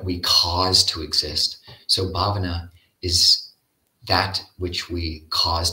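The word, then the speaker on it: bhāvanā: become um but this this term babana has a long a the first a and it's from the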